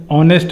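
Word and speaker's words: honest: bubble बोलते हैं तो यहां बबल साउंड है ऑनेस्ट मैन तो ओ का उच्चारण आ रहा है यहां पे तो हम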